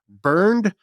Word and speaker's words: Bernd: It's like the word Bernard, but it's missing some letters. It's just Bernd Bergmair.